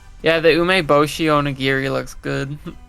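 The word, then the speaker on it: 梅干し: Yeah, the ume bosshi on a giri looks good. Oo, good pronunciation.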